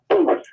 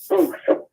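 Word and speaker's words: Boothe: the author's name, Demiko Booth. Spell it. Booth is spelled I'll spell it. B-O-O-T-H-E. Like boot, and then H-E at the end.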